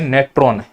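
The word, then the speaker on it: Natron: तो जो हम झील जल अभी विवादों में पढ़ रहे हैं, नेट्रॉन या मैं कहूँ नेट्रो, ऐसे इंग्लिश में लिखा है, इसको हम एन साइलेंट कर सकते हैं, नेट्रो भी पढ़ सकते हैं।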